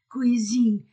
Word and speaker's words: cuisine: Tu regardes ce beau, E-A-U-O, poisson, O-I-W, poisson, O-N-O, sur la table de la cuisine, U-I-Oui, S entre deux voyelles, Z, cuisine, Pierre-Louis, U-I, oui, Louis aime, A-I-E, aime mieux.